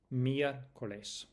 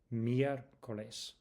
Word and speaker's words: miércoles: lunes lunes martes martes miércoles miércoles Listen to the stress on the e because the accent indicates it.